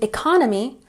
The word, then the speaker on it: economy: And economy has the emphasis on the second syllable. Economy, economy.